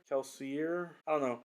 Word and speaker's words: Kelsier: people online pronounce that kelseyer kelsier i don't know i go with a french interpretation and i pronounce it kelsey but i i have